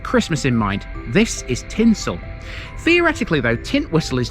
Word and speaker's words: Tintwistle: Be careful how you pronounce the name of this one. You have to think Christmas. This isn't Tint Whistle. It's tinsel tinsel prince's riverf today